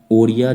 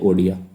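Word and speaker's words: Odia: amendment act जिसमें की ओरिया जो थी उसको प्रोनाउंस कर दिया गया ओडिया पहले ओरिया बोलते थे बट इसको चेंज करके बोला गया उड़िया ठीक है इंग्लिश याद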